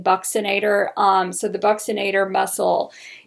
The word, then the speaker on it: buccinator: okay the the bucknaderm the buccinator muscle it's pronounced buccinator i've i've heard them say buccinator buccinator it sounds better to me i like saying buccinator um so the buccinator muscle is this little